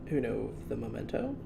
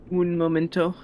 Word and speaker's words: un momento: Uno the memento. Un momento. Uno of the memento. No, don't say uno. Why? Un. Un Momento.